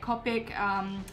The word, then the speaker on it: Copic: like to use my Copic kite know how to pronounce it it's Copic marker and this has got